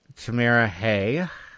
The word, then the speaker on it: Tamara Hey: greenville junction shop so today we're talking with tamira hay and that is how to pronounce it right tamara yes that's right i've